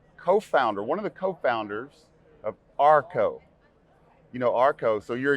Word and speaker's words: OurCo: So we had this internal fight, and it all turned out well after we realized it's all in the pronunciation. So OurCo.